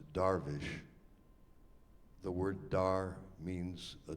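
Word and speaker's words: درویش: the word uh dervish is actually a Persian word in which in that language it is pronounced darish the word dar means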